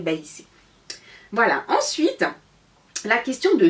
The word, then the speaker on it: Baïssé: Mon prénom s'écrit en réalité B-A-I tréma, 2 S-E accent aigu. J'ai enlevé le tréma parce que bon, étant en Angleterre, etc., la prononciation, enfin le tréma, bon, ça n'existe pas en anglais. Je me suis dit que pour faciliter la prononciation, je vais me mettre un H en fait. Mais je m'appelle Baïsé.